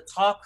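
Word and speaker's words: Tock: was dreaming about the Talk family. The name of the family is called Talk, and I think they spell it T-O-C-K.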